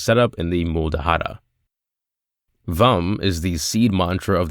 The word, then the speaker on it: Vam: And the mantra of suvadesana chakra isn't vam. Let me explain. It's simple. Lum rhymes with thumb is the seed mantra of the